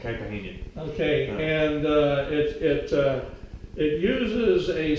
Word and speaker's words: Caipirinha: So this drink is called the Caipirinha. Caipirinha. If that's how they at least pronounced it when I was in Brazil, Caipirinha.